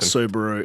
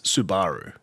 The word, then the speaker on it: Subaru: the same way that it's not Subaru it's Subaru it's not Nissan it's Nissan those are the correct pronunciations and funnily enough the Americans actually pronounce it correctly which is weird right